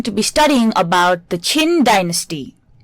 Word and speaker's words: Qin: So under this unit we are going to be studying about the Chin Dynasty. Although the spelling may be Q I N, the pronunciation of this word is chin.